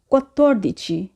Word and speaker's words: quattordici: Italian সংখ্যার 14 বলার ক্ষেত্রেও খেয়াল রাখতে হবে, এখানে ডবল টি আছে, তো আমরা এখানে দুইবার তয়ের মতো করে উচ্চারণ করব। তো উচ্চারণটি হবে quattordici, quindici, sedici।